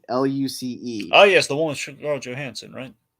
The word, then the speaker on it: Luce: We're going in with It's spelled Luce, not Lucy.